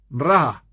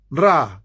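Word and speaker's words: רעה: Un tercer nombre, que es un nombre redentor de Jehová, es Jehová Ra. Jehová Ra, se escribe R-A-A-H, R-A-A-H, Jehová Ra.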